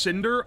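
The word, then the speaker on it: Scyndre: to be bespoke like normal Subs Snider is pronounced Cinder oh s c y n d r e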